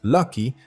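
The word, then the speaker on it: Lak-Hui: El nombre que se pronuncia Lucky significaba dicha o felicidad.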